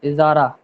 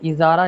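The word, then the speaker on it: Ijarah: इजारा के स्पेलिंग कैसे है? आई जे ए आर ए एच इजारा। तो इसमें जो जे है ना इजारा जे में ज्यादा जोर दे रहे थे।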